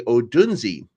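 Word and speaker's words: Odunze: by the way um I was told that I'm saying his last name wrong that I have to say because there's an e at the end that I have to say odunsi so uh with the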